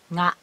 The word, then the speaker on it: が: So, the particle ga should be pronounced always nga if you keep this word.